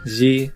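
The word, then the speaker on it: じ: Shi with the Dakten is pronounced ji.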